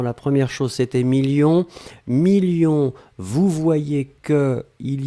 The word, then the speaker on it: millions: la fin 2 millions on ne prononce pas le s mais il est là ensuite signature mais ici